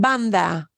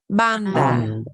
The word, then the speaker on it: banda: And here's another word, banda. Banda. And when you pronounce band in English, you'll feel a puff of air, but banda, you shouldn't feel a puff of air.